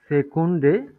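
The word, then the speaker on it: Sekunde: স্বাভাবিকভাবে এটাকে কি বলি ইংলিশে কি বলি সেকেন্ড না ইংলিশে তো এভাবে বলি তাই না সে কেন কিন্তু এটা হচ্ছে ডয়েস হবে দি সেকুন্ন যখন হচ্ছে প্লুরাল হয়ে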